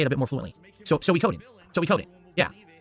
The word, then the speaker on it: Suikoden: It's going to be hard because I always said Sui instead of Soi. So I have to remember it's 4. It's not Suikoden 3 syllables, it's 4. It's Suikoden.